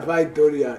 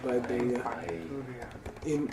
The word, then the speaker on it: Vaidurya: Oh, Yeah, Vaidurya in Sanskrit. Vaidurya. This is pronounced by Binduria. Tibetans as binduria, and this was misspelled.